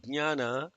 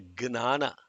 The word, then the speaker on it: ज्ञान: This word jnana is very often mispronounced. Malayali say jnana, jnana, and some people say gnana. The most famous N.T. Ramarao could not say jnana. He would say gnana, gna. It's not gna, it is not nya, it is gnya, gnya.